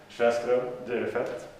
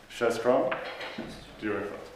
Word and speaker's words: Sjöström Dyrefelt: And this is a Swedish name, so in the hymn you're the only one who haven't heard it pronounced. So it's Sjöström Dyrefelt. Sjöström Dyrefelt, yeah.